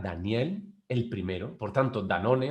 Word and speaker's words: Danone: danón como queráis pronunciar debería ser pronunciada como than one porque era el primero sin embargo la marca o la manera en la que la pronunciamos ha llegado a nuestro mercado oa muchos otros de otra manera y así es como